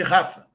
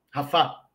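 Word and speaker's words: Rafah: contra a cidade de Rafa rafá com como preferirem a pronúncia ora ao mesmo tempo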